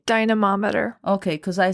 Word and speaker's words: dynamometer: Dynamometer.